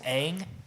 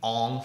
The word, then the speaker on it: Aang: Everybody pronounces it Aang in the TV show. You know what they say in the movie? Ong. Ong. And not just like once or twice, or like one character says it It's wrong. not one guy who Every says person, Ong.